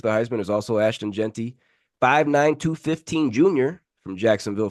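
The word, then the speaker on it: Jeanty: say it right cozy I think jent yeah Genty uh running back from Boise State get these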